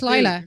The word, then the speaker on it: Lyla: They spell it Lyla. That's Lila. So it's still got to be Lila. Y is usually an I sound.